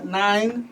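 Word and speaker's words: Nyne: Okay, ladies and gentlemen, that was Nine the Poet.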